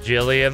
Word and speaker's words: Gillian: Gillian is pronounced Jillian.